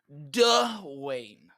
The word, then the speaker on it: Dwayne: it wrong dwayne uh you need you need a more emphasis on the uh uh duh wayne duff wayne the winner somebody even